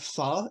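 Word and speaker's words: phở: But it's like pronouncing it pho instead of faux isn't like trying to pronounce it their way. It's literally how those letters are pronounced, like for that word. So it's pho.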